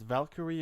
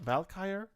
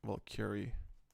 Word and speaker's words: Valkyrie: If you're wondering why I pronounce it Valkyrie and not Valkyrie, like a lot of Americans, it's because it's Valkyr is the actual Nordic / Swedish name for it. So I'm more comfortable saying Valkyrie.